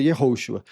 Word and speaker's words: Yehoshua: Até porque Jesus não é como se pronuncia. Se fosse para pronunciar como se pronunciava, teria que ser Yehoshua.